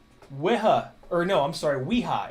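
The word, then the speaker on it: Wera: we go so ha or no i'm sorry weha it's pronounced weha i looked it up on their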